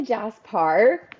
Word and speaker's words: Jasper: saying his name right I feel like I've heard different pronunciations of his name so it's technically Jas Park but I I'm not picky I'm so grateful people read the book they can pronounce it however they want okay yes I love